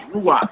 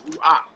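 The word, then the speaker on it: רוח: word for that is ruak rakes Ru it's not called R it's ruak but it ends with a kit so that's just you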